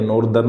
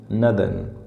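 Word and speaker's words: northern: इन इट्स नदन provinces नदन इसकी pronunciation नॉर्थन या नॉर्दर्न नहीं है नदन नदन प्रोविंसेस प्रांतों में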